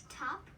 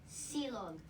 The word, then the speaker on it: Tapsilog: It's pronounced top, like Top. you're like on top of a house. Okay. Just really fast. So like top, Top and then silog.